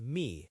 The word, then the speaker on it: mi: My in Spanish is mi, M-I.